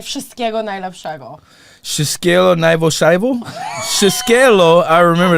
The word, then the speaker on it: wszystkiego najlepszego: Or you can say wszystkiego najlepszego. Wszystkiego najlepszego? Wszystkiego, I remember that part. Is wszystkiego? Lepszego. Lepszego. Very good. Great pronunciation.